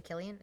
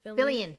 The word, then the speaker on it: Fillion: Nathan Killian. Did I say it right? I'm so bad for names. Nathan Fillion.